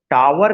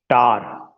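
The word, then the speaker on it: tower: ऑल ऑफ यू, कि कभी भी प्रोनाउंसिएशन पावर नहीं कहना है, शावर नहीं कहना है, टावर नहीं कहना है, इन सबको आपको जो प्रोनाउंसिएशन कहना है, पार, शार, टार।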